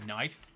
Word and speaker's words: knife: is how you remember there's a silent k but do you know the crazy thing is the reason why it's spelled kif is because it used to be pronounced that way all of the like